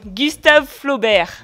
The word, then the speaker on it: Gustave Flaubert: No sean como yo, que lo sé pronunciar, pero no los he leído. Mm. Bueno, siguiente. Tu favorito. Mi favorito, Gustave Flaubert.